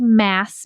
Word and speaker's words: MASS: It's called mass method. Mass rhymes with SaaS, stands for marketing as a system.